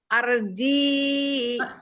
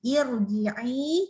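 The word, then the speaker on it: ارجعي: Arji. Ini i ya. Ini i depannya i. Bacanya i. Irji'i.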